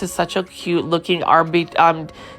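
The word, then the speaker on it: Arborvitae: And then over here, you can see that this is such a cute looking Arvitae, I think Arbovitae, I think that's how you pronounce it.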